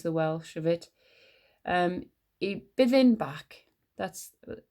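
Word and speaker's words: Y Bwthyn Bach: I byddin bach. That's how it's pronounced.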